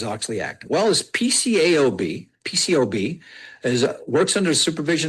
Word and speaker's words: PCAOB: So when I hear people say PCO, PCO is what they say, the A is silent.